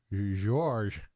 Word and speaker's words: Gheorghe: It's spelled Gheorghe. George. George. George Zamfir. It's because he's Romanian.